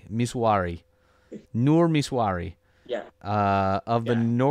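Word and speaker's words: Misuari: Miswari. Miswari.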